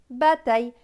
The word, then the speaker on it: bataille: Donc, T et aille, taille. Donc, ce mot va se lire bas, taille. Bataille.